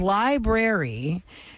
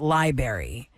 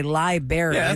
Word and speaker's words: library: would say it wrong but the word is library and they say people say it pronounce it Library I feel like more children will say liary they realize library right liary Li liary versus